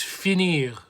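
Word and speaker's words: finit: we don't say Japanese we say Fini we don't pronounce the T and so on oh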